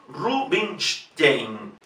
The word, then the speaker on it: Rubinstein: En cualquier caso, independientemente como lo veamos escrito después de la N, una S, H o una S, se pronuncia SH, Rubinstein, Anton Rubinstein, Rubinstein.